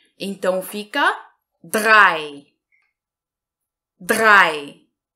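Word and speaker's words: drei: relação à pronúncia e nós vamos pronunciar com o som ea e então fica dae drae drae então vamos aqui o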